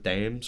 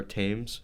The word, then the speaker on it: Thames: the river Thames or Thames. Thames. Yeah, we don't pronounce the th. So it's one of the, it's like Thomas. You don't say Thomas. Okay. And that's the best way I can describe it.